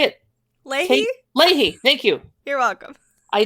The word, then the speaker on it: Leahy: Leahy, thank you.